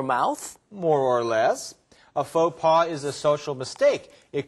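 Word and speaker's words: faux pas: it was something like fox pass Oh you mean FAA and it's spelled f a x space p a s but it comes from French so it's pronounced a little differently FAA okay so does it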